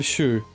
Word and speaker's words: Shu: I'm Shu. The U is silent.